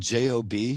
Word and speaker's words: Job: most loyal subject job which is actually spelled j-o-b for job but we pronounce it job no idea they don't put